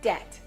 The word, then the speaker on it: debt: but that is silent they don't pronounce that b between e and t that repeat after me